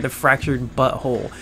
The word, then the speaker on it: The Fractured But Whole: And the butt and the hole are two separate words. Hole spelled like as in hole, W-H-O-L-E, which is so butthole, but not butthole. You know, it's really freaking funny. The Fractured Butt Hole. It's fractured, but it's whole.